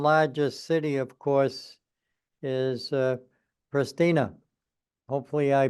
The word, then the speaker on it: Pristina: The capital of Kosovo is pronounced Pristina, and Kosovo is a new country which declared the independence from Serbia in 2008.